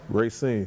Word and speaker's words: Racine: That's how you pronounce it? Racine.